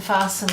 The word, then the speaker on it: fasten: Bristles, Chris and Fasten. Listen, these ones are, there's a T that you don't pronounce.